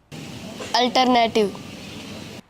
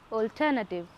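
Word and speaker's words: alternative: नहीं, ये इसका गलत उच्चारण होगा। इसका शुद्ध उच्चारण होगा ऑल्टरनेटिव। इसी तरह ज़्यादातर हिंदी भाषी ALTERNATIV ऑल्टरनेटिव को ऑल्टरनेटिव ना कहकर अल्टरनेटिव कहते हैं, जो कि उनका गलत उच्चारण होता है।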